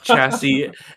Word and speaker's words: chassis: No, it it's chassis. And in my head, I was like, it's probably pronounced chassis, but I was pronouncing it phonetically.